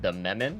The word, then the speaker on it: Demiman: Arcpos, Administrator, Cly, and Demiman, our new recruit for... Wait, is your name Demiman, or is it something else? I believe it's pronounced for him, it's Dememin, but we can still call him Demiman.